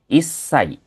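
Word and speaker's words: 一歳: Di sini untuk usia sebenarnya gampang Minasang di akhirnya tinggal ditambahin sa tapi ada beberapa pengecualian seperti contohnya di 1 tahun dia jadi isai.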